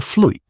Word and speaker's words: Vloot: The Vloot, pronounced roughly like float, was perhaps the most